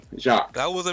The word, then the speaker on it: Jacques: My name has a silent Q-U-E-S. Basically, all the pronunciation is J-A-C. Jacques.